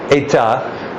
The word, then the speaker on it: état: In Italian it's stato, but in French it's état. And the accent on the French means that the S has gone, so estat is so estate in English.